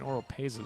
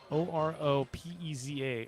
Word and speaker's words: Oropeza: Robert or a pizza I'm saying oral Paisa this was phonetically the way it's filmed o-r-o-p-e-z-a oropeza I'll roll that r wrong on second two down